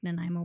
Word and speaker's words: Nanaimo: Nanaimo, like Nanaimo Bar. That's where they're from, actually, on it. It's AI, Nanaimo. The nine sound of it.